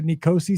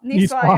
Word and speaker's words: Niçoise: much, so I don't even know how to pronounce this next thing because I've never had a Nicosi style salad or what's that? Niçoise, yeah.